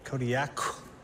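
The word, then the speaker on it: Kodiak: In the Aleutic language, the Qs are more come from like your throat than a normal K does. How would we pronounce it then? Kodiaq.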